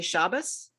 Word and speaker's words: Shabbos: If you come from a traditional Eastern European background, you would say Shabbos. Right. If you come from a modern Hebrew or a Sephardic background, you would say Shabbat.